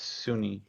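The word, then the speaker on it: Sune: goddess's name sir saroon i think it's pronounced as sunni seo pronoun sunni it's s-u-n-e it's sunni oh that's cool well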